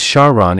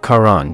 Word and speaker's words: Charon: sticks River River however he mispronounced it as shahon instead of Karan because he wished to